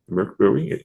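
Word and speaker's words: Mörk Borg: So Egg describes it as DuckTales, but for Merkbowie or Morkborg, depending how you say it, but I believe it's pronounced Merk Bowie and Duke Bowie.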